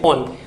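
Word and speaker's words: -one: ओन, ONE से spell करेंगे, लेकिन उसका प्रोनाउंसिएशन करेंगे ओन।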